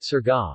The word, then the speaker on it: Surigao: Surigao City, Tagalog pronunciation, Surga, officially the city of